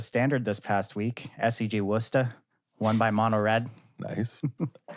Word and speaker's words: Worcester: Like that pronunciation. Yeah, it was good. I mean, actually, I was pretty good, actually. Nailed Oh, you have it spelt well in the notes. Yeah. WOOOSTR. Still pretty good pronunciation there, yeah.